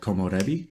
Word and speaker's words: komorebi: The next word I really like in this book is a Japanese word called komorebi, like this, even though Japanese isn't written in the Latin alphabet, but that's pretty much how you say it.